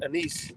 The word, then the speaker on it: anise: fun of me because it really looks like it's anus I was corrected and it's pronounced anise like Denise what snake oh Jan